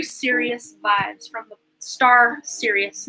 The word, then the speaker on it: Sirius: vibes from the star series not like sirius like this is serious everybody listen but serious like this spelled like that serious like the star series you know the dogs star um but you are